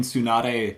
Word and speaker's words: Tsunade: people hit the T in Tsunade So hard.